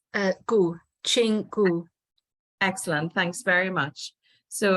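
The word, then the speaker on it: Gu Qing: us today could I just double check I'm pronouncing your last name correctly how was it said it's uh go Ching excellent thanks very much so as we mentioned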